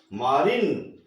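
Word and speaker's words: marine: इसी तरह मारिन, तो यहाँ पर बड़ी ई की ध्वनि निकलेगी, मारिन।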